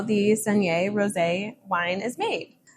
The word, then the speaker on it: saignée: So saignée, it rhymes with beignet, like the donuts.